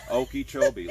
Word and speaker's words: Okeechobee: How do you pronounce that one in Florida? Okeechobee, Lake Okeechobee in Florida.